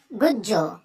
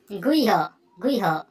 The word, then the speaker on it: গুহ্য: গুজ্জ। এই গুজ্জ শব্দটা শ্রীমদ্ ভগবদ গীতায় একটা অধ্যায় আছে রাজবিদ্যা রাজগুজ্জ। এখানে এই গুজ্জটা সংস্কৃত উচ্চারণ কিরূপ হবে? গুজ্জ, গুহ্যম, গুহ্য, গুহ্য। গুজ্জটা উচ্চারণ হবে গুহ্য।